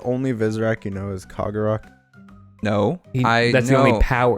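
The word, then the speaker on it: Kahgarak: It is pronounced Kagarak. Kagarak. Kagarak. Ugh. Kagarak, that's what I'm calling them. Kagarak.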